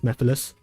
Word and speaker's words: Mephiles: Yeah, so yeah, I just always pronounce it as Mephiles. But because of a certain fandom, yeah, everybody just calls him Memphis, Tennessee.